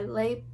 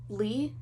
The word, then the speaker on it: Leigh: that's her first name i thought it was lay but ben barnes pronounced it as lee so because ben barnes said lee i say lee but we might both be completely wrong uh this is actually